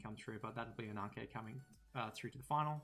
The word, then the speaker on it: Ananke: So like being an ancient Greek name, the E would be an eta. So I do like Ananke if you want to be the most accurate.